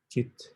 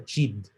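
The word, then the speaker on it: चित्: So yung C palaging may pronounce it sa Sanskrit with H. Chit. Pag pronounce siya, minsan nagiging ano siya, napapalitan yung syllables niya sa chid.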